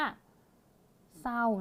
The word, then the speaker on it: เศร้า: แบบ นี้ นะ คะ ต่อ ไป ค่ะ คำ สุด ท้าย ตรง นี้ ปิด เสียง ตัว ร เรือ ไป แล้ว ไม่ อ่าน เสียง ตัว นี้ เรา ก็ จะ อ่าน แค่ ว่า เศร้า นะ คะ เศร้า เศร้า เสีย